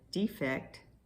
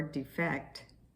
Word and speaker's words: defect: If you said defect or defect, I guess defect or defect, you got the right answer. It's both spelled the same way, but it's just how you put the stress on which syllable.